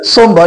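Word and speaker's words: sombre: eight সোমবার উচ্চারণটা হচ্ছে সোমবার এখানে আর এর উচ্চারণটা সাইলেন্ট আসবে সোমবার বাংলা মানেটা হচ্ছে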